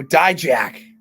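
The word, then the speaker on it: Dijak: how do you say his last name oh die Jack die Jack Captain NXT what he he's asking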